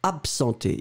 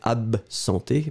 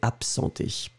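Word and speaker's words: absenter: then you go for absenté. Absenté, remember, A-B-S-E-N-T-E-R. B-B-B, ab. But then in that case, you will pronounce it a bit more like p-p-p, absenté.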